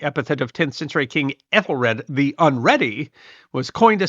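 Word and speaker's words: Æthelræd: Ethelred, which would have been pronounced Æthel ræd, literally meaning noble council or good council.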